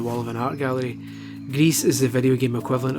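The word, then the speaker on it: Gris: be something pretty special Greece like that's how you pronounce it is indeed extremely special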